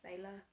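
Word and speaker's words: Bela: dracula from 1931 starring bella lugosi i have heard that the correct pronunciation is bayla but i'm so used to saying bella that's we're just gonna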